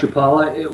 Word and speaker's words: Chapala: and where is japan is that how you pronounce it properly that's correct chapala we're about uh 40 minutes south of guadalajara